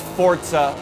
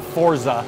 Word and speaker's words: Forza: Motorsport 5 and yes it's fortza by the way not Forza it's pronounced Forza there's always some somebody